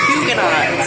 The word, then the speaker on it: Huguenot: The next stop is Huguenot. So it is pronounced like that.